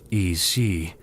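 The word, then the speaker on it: Aos Sí: Los Aos-sí, pronunciado I-sí, las hadas del folclore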